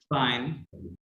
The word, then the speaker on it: film: আচ্ছা ফিল বলবো না আমরা, ডাবল এল প্লাস এই তিনটা লেটার সাইলেন্ট থাকবে, হ্যাঁ, আমরা কি বলবো, শুধু ফি বলবো, কি বলবো? ফি, Film.